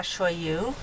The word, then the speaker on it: shoyu: Aloha shoyu.